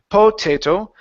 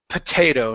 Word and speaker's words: potato: to stress the a sound instead of saying potato it's potato and so the first o is actually awah